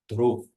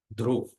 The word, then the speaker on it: Dhruv: Suruchi's son's name was Uttam and Suniti's son name was Dhruv, not Dhruva, Dhruv. Dhruv. A is silent.